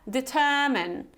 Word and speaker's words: determine: So again, you have this long determine. It's not determine, it's not examine, okay? It's determine and examine, examine.